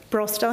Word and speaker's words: Broster: John, and if I get his name wrong, is it Broster? Broster, thanks, Laura.